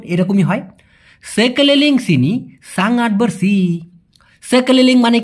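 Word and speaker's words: bersih: পরিষ্কারকে Malaysian ভাষায় বলা হয় বার্সি।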